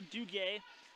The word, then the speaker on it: Duguay: after all that I finally got the right pronunciation here it's a lower Duguay so excuse me for